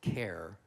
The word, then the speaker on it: Kerr: It's a Scottish last name, and they pronounce it care.